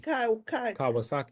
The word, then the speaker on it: Kawasaki: then you have fibromyalgia it's sort of spelled like the motorcycle kavasaki Kawasaki that's it Kawasaki that's it but